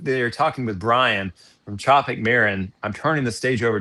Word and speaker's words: Tropic Marin: Now, first and foremost, is it Tropic Marin or Tropic Marin?